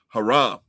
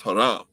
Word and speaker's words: haram: but it's actually pronounced haram right in in arabic it's pronounced haram it means exceeding the